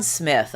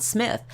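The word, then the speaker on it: Smyth: ever given by judalon Smith and as uh Dominic Dunn pointed out in yesterday's article it is Smith not SMI even though it's spelled with a Y whom Diane Sawyer interviewed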